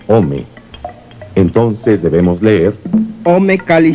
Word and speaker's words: ome: El numeral del año es 2, que se pronuncia Ome.